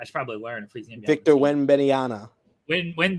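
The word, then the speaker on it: Wembanyama: his name i should probably learn freezing victor beniana when bidiana that's who that's how you say it thank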